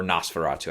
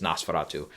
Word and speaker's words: Nosferatu: worked out was Nosferatu, or Nosferatu, I think is the proper German pronunciation, is Nosferatu. And this has been one of my more eagerly anticipated ones for the late year here.